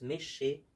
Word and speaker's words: Meschers: Jusqu'à Méché-sur-Gironde, ça s'écrit comme ça, Meschers, mais on prononce Méché.